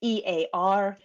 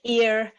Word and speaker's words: EAR: the Export Administration Regulations, abbreviated as EAR, looks like ear, but we pronounce it EAR.